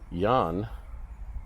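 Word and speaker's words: Jähn: this one over here Yan or really pronounce it Yan but I don't see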